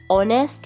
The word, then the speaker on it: honest: For example, honest man, R, honorable person. Here H is silent and O gives the sound of vowel, and again we put an before these words.